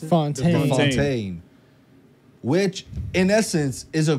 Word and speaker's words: Fontaine: And then it showed us Contessa Valentina Allegra de how do you pronounce it? Fontaine.